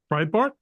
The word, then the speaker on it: Breitbart: enterprising news Outlet uh Brit Bart is that am I pronouncing it right Breitbart Breitbart yeah yeah picked up on